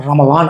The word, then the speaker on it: ரமலான்: அப்படின்னு சொல்லக்கூடிய ஒரு மாசம் இந்த மாசத்தை உருது மக்கள் வந்து அந்த ரமலான் அப்படின்னு சொல்லிட்டு அந்த உச்சரிப்புல அவங்களுடைய உச்சரிப்புல சின்ன வித்தியாசத்துல ரமலான் அப்படின்னு சொல்லிட்டு இசட் சேர்த்து சொல்லக்கூடிய ஒரு பழக்கமா இருந்துச்சு அதை அவங்க எழுதும்போதும் ரமலான் எழுதுவாங்க அது நாளடைவுல மருவி மருவி ரமலான் அப்படின்னு சொல்லக்கூடியது ரம்ஜானா மாறிருச்சு அதனால ரமலான் அப்படின்னு சொல்றதுதான் சரியான சொல்லாளர்களா இருக்கும் முஸ்லிம்